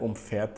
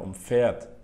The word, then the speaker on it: umfährt: Вот тебе совет: Если ударение делается не на префиксе, то глагол не разделяется. Типа, "Er umfährt das Schild".